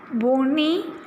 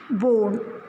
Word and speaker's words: bone: Are you pronouncing Becky, piney, bony? No. Here E is silent. That's why bake, pine, bone.